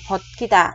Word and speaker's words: 벗기다: Bokkida này bạch chim là chữ sờ, mình nhớ đọc thành chữ tờ ha, thành bokkida, nhấn xuống.